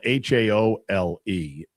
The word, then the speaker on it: haole: Haole is spelled h a o l e and it is pronounced haole.